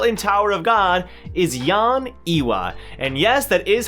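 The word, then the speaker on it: Yeon Ehwa: my best girl in tower of god is yon iwa and yes that is how you say it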